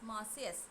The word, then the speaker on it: Marseillaise: It is pronounced as Marseillaise.